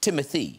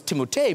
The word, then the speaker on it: Timothée: It's pronounced Timothée. It's whatever you'd like. Because I always thought, I don't know if you guys, I thought it was Timothée because of the double E's at the end.